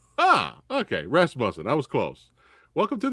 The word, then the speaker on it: Rasmussen: Tell me how to correctly pronounce the last name. Rasmussen. Ah, okay. Rasmussen.